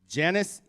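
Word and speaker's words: Janis: the name is it Janice Jerome jannis Jerome how do you Pro properly pronounce the two JS so technically in German you say yanis Sher M yanis Jerome you got that I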